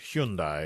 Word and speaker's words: Hyundai: Yeah, it rhymes with Sunday.